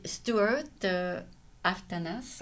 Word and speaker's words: Aftanas: Et donc, c'était Stuart Aftanas, on Ouais. prononce Ouais. le S à la fin, Ouais.